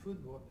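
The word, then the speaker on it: fútbol: spell f u t b o l it's pronounced football it's the same word but so with the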